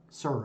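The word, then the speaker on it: Suhr: I was watching Music Is Win's channel, and he went into Guitar Center, and he got himself a Sir is how you say it, right?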